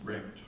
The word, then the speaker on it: RECD: Pronounce it RECT for short.